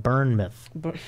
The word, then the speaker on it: Bournemouth: I mean, it's United Kingdom in Bournemouth.